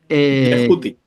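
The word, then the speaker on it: Djehuty: Yehuti. Como si estuviera con Y.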